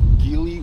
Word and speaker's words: Geely: motorcycle car company you guys can look up gili or you pronounce the chili company from china now these